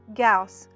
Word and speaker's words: Gauss: my best wishes gauss p.s my last name rhymes with house the chairs must have